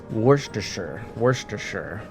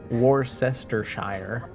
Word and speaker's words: Worcestershire: Like, you know, at least I don't say Worcestershire. I know it's supposed to be 3 syllables.